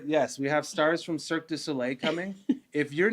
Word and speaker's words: Cirque du Soleil: Cirque du Soleil, yeah.